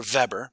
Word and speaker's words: Weber: it on Monday so Weber's law or vebber I've seen it pronounced that way too says the just noticeable